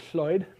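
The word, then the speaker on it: Llwyd: So, there's a traditional Welsh name uh spelled like this um and pronounced Floyd, uh which has been borrowed into English twice uh as the name Lloyd and the name Floyd.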